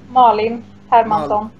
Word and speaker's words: Malin Hermansson: Is it pronounced Malin Hermansson? Malin Hermansson.